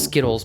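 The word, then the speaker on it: Zkittlez: know how you expect it's z-k-i-t-t-l-e-z so it's skittles but with a little bit more zest on the s's uh i don't know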